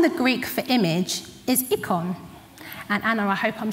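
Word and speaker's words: εἰκών: The word in the Greek for image is ikon. And Anna, I hope I'm saying it right. Ikon. Does that sound like any other word that we have in the English language? Icons.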